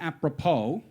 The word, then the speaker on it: apropos: Some of my favorites include the P in pneumonia, the S in apropos, and the GH in ought, bow, and dough.